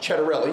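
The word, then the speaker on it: Ciattarelli: So think Chet.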